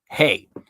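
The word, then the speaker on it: ה: Not an H, which would be like, I think, hey is how you pronounce it. I want to say hav. I don't know why my brain wants to say hav, but hey. That's retarded. It's definitely not a hav. Hey.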